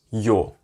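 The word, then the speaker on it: ё: of it uh but it's pronounced as yo yo yo and for english speakers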